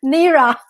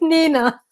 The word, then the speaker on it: Nina: Sorry, I read the whole name and I try to pronounce it in 2 syllables. The first and the last. Nira. No, it's Nina.